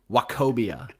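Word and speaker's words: Nwokobia: Wacobia. Like that old bank.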